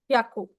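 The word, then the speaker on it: ひゃく: आप अ हियाकू को हियाकू प्रोनाउंस नहीं कर सकते। The correct pronunciation is याकू। याकू नॉट हियाकू याकू याकू।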